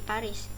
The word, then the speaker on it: Paris: Styles yang mengilustrasikan style atau gaya terbaru dari Paris ya Kalau setahu saya ada yang bisa bahasa Prancis Paris itu rolaba softlens bacanya variya Fahri esnya nggak dibaca Hai temporary